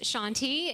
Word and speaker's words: Shanti: name is shanti landon and pronounced shanti it's my name is actually an east indian name my dad was an